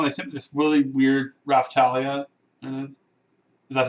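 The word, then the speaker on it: Raphtalia: for a while they sent this really weird raftalia that's how you pronounce her name looks like she's in pajamas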